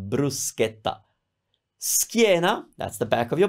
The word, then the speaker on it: bruschetta: in English speaking countries sometimes it's pronounced a different way but in Italian it's pronounced bruschetta bruschetta that's the back of